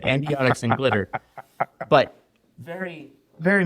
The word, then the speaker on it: Endiatx: Well, first of all, you're one of few people that knows how to pronounce it the way we would intend you to Endiatx.